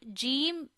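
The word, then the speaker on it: جيم: Again, this is Jeem, and Jeem is pronounced from the middle of our tongue and middle of our palate. It means middle of your tongue, you have to touch your middle side, upper side, middle of palate.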